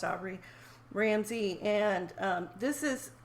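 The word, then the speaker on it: Obray: that's right Aubrey yeah is spelled very differently from my name but it is pronounced Aubrey Ramsay and um this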